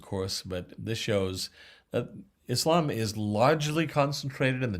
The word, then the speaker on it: Islam: uh hissing ass and emphasis on the second syllable not islam but islam muslim from aslama yusulimu